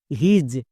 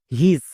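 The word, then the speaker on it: his: যেমন এইচ আই এস হিজ। একে অনেকে ভুল করে উচ্চারণ করছো। হিস বাট হিস একদমই ভুল উচ্চারণ। কারণ এখানে আই এর পরে এস আছে।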